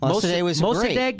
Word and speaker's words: Mossadegh: First democracy, and Mossadegh is how you say it.